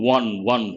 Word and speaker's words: one: saw a one-eyed beggar one how do we pronounce the word win one one hua sound that is also a consonant of